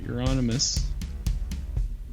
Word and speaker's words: Euronymous: But anyway, so Euronymous, that's how you pronounce it, right?